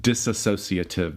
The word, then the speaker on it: dissociative: Dissociative disorder. And it's not it's dissociative. There's not that extra syllable.